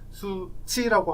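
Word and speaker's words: Suu Kyi: 아웅산 수치라고 하기도 하고 찌라고 하기도 하고 지라고 하기도 하는데 정확한 발음은 찌랑 치의 사이쯤 된다 그래요. 버마 말로 하면.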